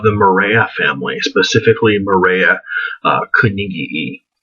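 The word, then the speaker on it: koenigii: Morea family, specifically Morea Carnegii, or Carnegii, if you want a German pronunciation.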